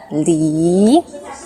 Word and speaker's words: 梨: Li, second tone, right? Li.